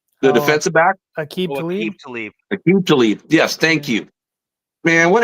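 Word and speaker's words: Aqib Talib: Rashid Tlaib, the defensive back. Aqib Tlaib.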